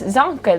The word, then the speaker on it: Zonka: You said it right, Zonka.